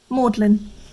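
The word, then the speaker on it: Magdalene: seen from orgasm bridge maudlin included solely for the reason that everyone pronounces its name wrong when they first come here keys short for gone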